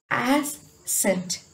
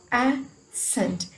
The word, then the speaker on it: ascent: Okay, ascent, ascent, here scent has consonant, sorry, consonant cluster, so we stress this.